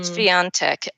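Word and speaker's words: Świątek: Swiatek. And there is actually an N sound in there. It doesn't, she's Polish.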